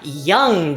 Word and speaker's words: Young: We've got Young Daddy. Today I finally learned how to actually pronounce that name. Been calling it Jung the whole time.